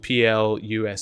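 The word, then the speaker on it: Pluscarden: d a n uh I know it sounds completely different from what I'm saying but you have to remember the way the Scots pronounce things is a little bit different but it's Plus huge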